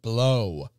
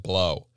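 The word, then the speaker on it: Blau: 1500s, the village of Blow in Bohemia. I'm going to pronounce it Blow. It's spelt B-L-A-U. I don't give a fuck what you say I'm supposed to call it. It's Blow.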